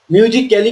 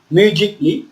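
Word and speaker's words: musically: কি লজিকলি এরপর হচ্ছে মিউজিকলি মিউজিক্যালি কিন্তু আমরা বলব না মিউজিক্যালি না বলে কি বলছি মিউজিকলি এরপর হচ্ছে ফ্যাক্টিিকলি নেক্সট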